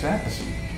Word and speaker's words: Appice: that everywhere I go, they go, is it Appice or Appice? And I said, no, it's Appice.